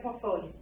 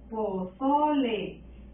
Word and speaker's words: pozole: Pozole. ¿Dónde escuchas la sílaba tónica? Pozole. En so.